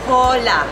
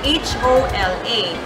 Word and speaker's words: hola: Another example, if you're Filipino, you would probably say hola because it's H-O-L-A. But in Spanish, it should be pronounced as hola.